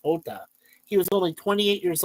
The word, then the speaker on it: Jota: His name is Diogo Jota, but he spells it Jota, but it's pronounced Jota.